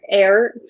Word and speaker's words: Eyre: scottish file yeah yeah i'm so glad that you guys pronounce jane eyre air because i can't air